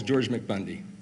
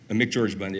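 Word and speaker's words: McGeorge Bundy: for it he calls George mcbundy George mcbundy MC George Bundy I say it wrong sometimes my friend uh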